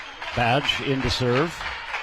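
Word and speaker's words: Badje: Badge in to serve. Spelled B A DJ E, but it is pronounced badge.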